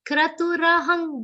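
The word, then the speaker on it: क्रतुरहम्: Kra, it's not kru. Okay, ka half, ra is complete. Kratu rahang, both.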